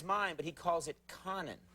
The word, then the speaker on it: Conan: Don't you think it's pronounced co nan? That's Conan, right? Or is it Conan?